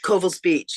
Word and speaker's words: Covell's Beach: United States, is coming ashore at is it pronounced Covell's Beach? Covell's Beach, yes.